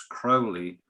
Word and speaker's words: Crowley: a look at that people do argue whether it's aleister crowley or alex to crowley crowley himself said it's crowley to rhyme with holi actually while you're